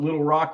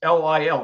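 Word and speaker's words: Lil Roc: show, like you put Little Rock, which is fine, but it's Lil. It's like Lil, and then Rock, ROC.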